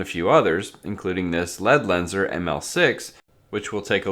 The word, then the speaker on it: Ledlenser: few others including this lead lenser ml6 which we'll take a look at today and yes the correct pronunciation is lead lenser and not LED lenser like you might think lead lenser is a German company